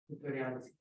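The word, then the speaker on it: Khutoryansky: I keep on mispronouncing the word. Eugene Hutoriansky.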